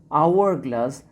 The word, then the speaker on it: hourglass: Hourglass, though this word has started with consonant sound, but we are pronouncing it hourglass, not hourglass, so here we will use an.